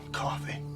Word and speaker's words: Coffey: John Coffey, man. Like to drink. Only not spelled the same.